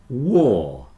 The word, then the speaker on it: war: lots of poor people War rhymes with poor card here is a